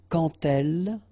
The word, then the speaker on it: quand: So like that, quand elle. All right, same rule here. Remember, when you will have this D, you will phonetically pronounce it like T. Quand elle, dans un, okay, and